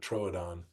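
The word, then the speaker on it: Troodon: I mean, it used to have the umlow on there, right? The little I don't know, but those two dots. And that was to emphasize that it was two different syllables, but it wasn't Trudon, but it was tronodon.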